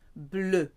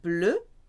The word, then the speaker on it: bleu: The masculine and feminine versions of blue sound the same, but there's an extra E for feminine. Bleu, bleu. So you have le fromage bleu, the masculine for cheese because cheese is masculine.